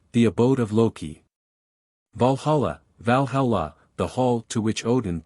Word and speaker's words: Valhalla: Thunder God utgard the Abode of Loki Valhalla Valhalla the hall to which Odin took the slain